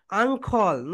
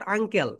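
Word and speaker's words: ankle: এটাকে কি বলব বলতো আঙ্খল নট আঙ্কেল সবাই বল আং আখল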